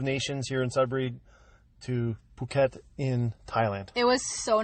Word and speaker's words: Phuket: 14 minutes yeah so I noticed you said Phuket because that's how they say it in Thailand right so you're not